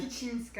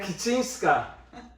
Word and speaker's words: Kicińska: Kicińska. Kicińska.